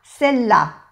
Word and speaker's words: celle-là: Celle-là, celle-là. No se pronuncia la E y se hace celle-là, celle-ci.